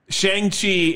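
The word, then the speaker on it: Shang-Chi: as directly as i know how shang right shang chi and the tale of the center rings as we americans say yikes uh that's why he changed his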